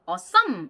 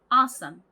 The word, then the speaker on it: awesome: 이거를 그렇게 awesome 이렇게 뒤에다가 강세를 찍으시는 경우가 많은데 앞에 강세가 오는 단어입니다. 그러니까 앞을 빡 강조해주면서 awesome, awesome 이렇게 발음을 해주셔야 합니다.